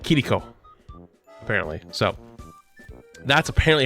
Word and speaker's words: Kiriko: way you say kiriko the way I was told that you say it is kiriko kiriko instead of here Rico or heriko right like